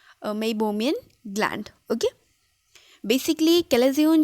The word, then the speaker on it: Meibomian: Okay, इसकी pronunciation Meibomian gland.